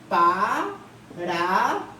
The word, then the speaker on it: parabéns: Aqui, parabéns. Acentua-se aqui a última sílaba, termina em ens, tá?